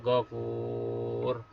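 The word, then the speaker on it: غفور: hayata liyabluwakum ayyukum ahsanu amala wa huwal azizul ghafur. Tulisannya adalah al-ghafuru. Tapi karena kita dibaca wakof, maka huruf terakhir dibaca sukun atau mati. Sehingga kita baca wa huwal azizul ghafur.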